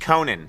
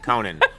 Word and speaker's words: Conan: Just Conan. It's not Yeah, it's notan. It's not Dutch. Uh, Conan.